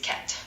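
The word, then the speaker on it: quatre: For Q, a great everyday word is cat, which means for.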